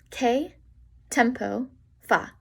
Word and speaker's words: Che tempo fa: Che tempo fa? Che tempo fa? Whenever you have a CHE, then the CH sounds like a K.